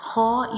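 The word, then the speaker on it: خاء: a throat letter, and ho is pronounced from the upper part of the throat, and it is also a heavy letter, bold letter, thick letter. We read it with thick sound.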